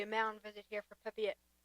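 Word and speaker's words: Pepiot: There's going to be a mountain visit here for Pepette. Is that the correct uh pronunciation? I think it's Pepid. Pepid. Pep. Yes. Or Pep.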